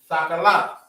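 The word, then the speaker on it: תכלת: If you're just trying to say blue, Thakalaf. That's how you would pronounce it.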